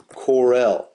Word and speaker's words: CORREL: we use for correlation in Excel is called Corel okay it's spelled c o r r e l and